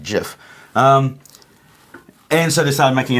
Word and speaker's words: GIF: For those that want to pronounce it incorrectly, it's GIF, but it's actually GIF.